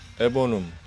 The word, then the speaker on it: eburneum: 오늘 소개해드릴 식물은 파키포디움 속의 에버눔 혹은 에버니움이라고도 발음할 수 있겠는데요.